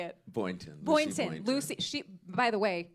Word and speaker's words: Boynton: Boynton.